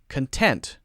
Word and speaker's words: content: ah ah ah ok then with the adjective we're stressing syllable 2 content content I'm content I'm content